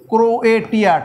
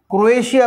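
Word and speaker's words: Croatia: পনেরো নম্বর দেশ ক্রোয়েশিয়া CRO ক্রোয়েটিয়া TIA ক্রোয়েশিয়া উচ্চারণ কিন্তু লেখার সময় ক্রোয়েটিয়া বলে না ক্রোয়েশিয়া এই যে পনেরো নম্বর এইখানে এটা এটা হচ্ছে ক্রোয়েশিয়া।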